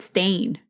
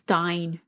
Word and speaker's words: Steinke: I think, really quick, I think I was saying his last name wrong in the first part. I think I just said Stain, but it's Stein, like Steinmart. Oh. You remember that store? I do remember that store. But it's Steinke.